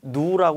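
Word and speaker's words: ν: 우리 설명하면 오하루 종일 걸리니까 기호 위주로 보는데 얘는라고 읽습니다 얘는 뮤고 점도에가 밀도를 나눈 동 점도는 누라 읽는다 자 그다음에요 밀도 있습니다 얘는 구자 거꾸로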